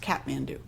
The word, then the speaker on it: Kathmandu: Actually, I think it's pronounced catmand do. H is silent.